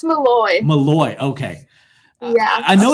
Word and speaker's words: Molloy: to owe you yes and then tails it pronounced Molly its Molloy Molloy okay yeah I know it's in New